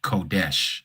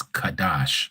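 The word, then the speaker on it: קדש: And you can see the maseretic vowel points and they make you say that it is kodesh. We know it's not pronounced kodesh. It's kadash. Okay. No o's, no e.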